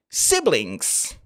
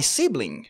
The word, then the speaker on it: sibling: Dans ce cas spécifique, vous direz we are siblings. Exactly. He's my sibling. On ne dira pas sibling. Attention à la prononciation.